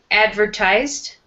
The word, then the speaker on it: advertised: And then advertised. Advertised. Mm-hmm. So advertised here with advertise or advertisement, the first syllable would be strong.